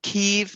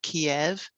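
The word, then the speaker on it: Kyiv: you noticed they're saying keeve now instead of kiev yeah that's the ukrainian pronunciation ah instead of the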